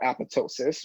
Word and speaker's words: apoptosis: the cell biologists call apoptosis where there's a second silent p because people are